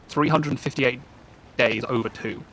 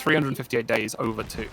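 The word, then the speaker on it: 358/2 Days: 358 divided by 2 days, or I think the official pronunciation is 358 days over 2, because it's 1 week shy of a year that 2 characters share together.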